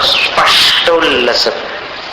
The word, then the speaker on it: स्पष्टोल्लसत्: अब स्पष्टोल्लसत् का उच्चारण सरल है वैसे, बस जीभ को स के स्थान पर लगा दो और थोड़ी वायु बाहर आए, इस तरीके से उच्चारण करो। स्पष्टोल्लसत्, स्पष्ट नहीं बोलना।